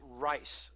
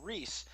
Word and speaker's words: Reiss: people the United States couldn't figure out how to pronounce the I before E except after C so he was called Ries and this was not